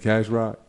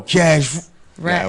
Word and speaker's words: Cash Rack: Yeah, he get mad when I say his name wrong. I'm like, Cash Rock? Yo, Cash Rack is Rack.